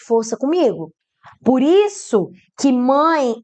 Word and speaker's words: mãe: Te pergunto, você pronunciou mae? Duvido, você pronunciou mãe. Mãe. O E com som de I.